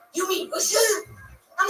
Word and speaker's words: Wilshire: I think Wilshire is where Magneto's parents were murdered. Everybody says Wilshire. It's Wilshire.